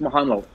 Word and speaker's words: Mohanlal: I think it's Mohanlal. With the L-A-L, Mohanlal.